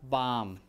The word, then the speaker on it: bomb: this case you have bomb this bomb notice that we don't pronounce a b we don't say bomb